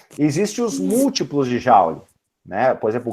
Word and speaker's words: Joule: Joule, tá? Dessa forma como se escreve, Joule.